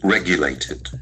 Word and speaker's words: regulated: Regulated. Regulated. So the accent falls on the first syllable.